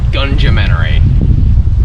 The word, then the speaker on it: Gunumentary: Enter the Gungeon, a Gungeonary. Yes, it's pronounced like that.